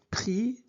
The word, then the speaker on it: pris: On ne prononce pas s. Donc j'ai pris, tu as pris il est là.